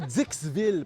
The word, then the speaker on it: Dixville: Bienvenue à Dixville parce que oui ça se prononce comme ça.